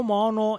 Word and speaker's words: Maono: del mono PD 10000x dico Mono in realtà si scrive mao ma ho scoperto che la pronuncia in realtà è mono quindi chiedo scusa al